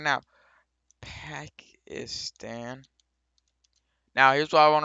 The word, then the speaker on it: Pakistan: Please move back to Pakistan.